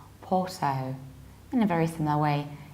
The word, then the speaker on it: Porto: is a bit strange so that's why it's Porto in a very similar way in American accent